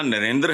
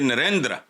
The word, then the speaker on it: नरेंद्र: इस तरह है यह यह लफ्ज जो है ना इसको प्रोनाउंस यह ना नरेंद्र है ना नरेंद्र है यह नरेंद्र हल्का सा बहाल दुनिया के अमीर